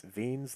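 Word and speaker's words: Wien: and so that is vein's law I believe I'm pronouncing that correct spelled w-i-e-n-s so veins law so the way that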